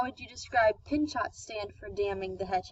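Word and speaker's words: Pinchot: how would you describe pin shot stand from damming the Hetch Hetchy oh all i believe it's pronounced control I can always know it's a silent T is its I like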